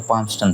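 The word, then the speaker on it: Palmerston: तो पामस्टन था। ठीक है? यह एल साइलेंट हो जाता है।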